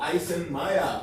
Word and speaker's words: Eisenmenger: raza, se llama síndrome de Eisenmenger o Eisenmenger, para pronunciarlo adecuadamente porque era alemán el vato.